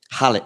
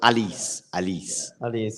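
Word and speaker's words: Halys: Hallis. Oh, so Alice, yeah. Thank you. Like in Spanish, like in French, it's Yeah, Alice.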